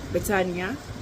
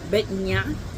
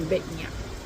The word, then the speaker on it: Batanya: But there are down in a stable, Batanya and Betnia.